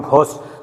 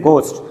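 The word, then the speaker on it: ghost: गोस्ट पास, अभी हमने पढ़ा कि जब एच आ जाते हैं तो वो साइलेंट रहता है। This is नॉट घोस्ट, this is गोस्ट।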